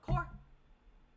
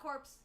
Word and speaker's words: Corps: Core, C-O-R-P-S. It's spelled Core. Core. Not corpse, not cores. It's Core. Core Dance Crew.